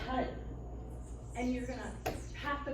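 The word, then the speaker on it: Har: So it's spelled H-A-R, but you're going to say HUD.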